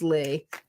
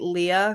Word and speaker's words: Leah: I used to get annoyed at people when they'd say Leah because it's lea and I'm like, you don't say when you say P, you don't say Pia.